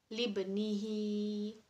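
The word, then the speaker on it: لابنه: Jadi huruf ba-nya bertanda sukun di tengah kata. Jadi dibacanya memantul. Libnihi.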